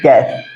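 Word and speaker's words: guess: के बाद यू आएगा अगर जी के बाद यू दिखे और उसके बाद भी कोई अगर वावेल आते हैं तो उस कंडीशन में यू हमारा क्या होता है साइलेंट होता है ठीक है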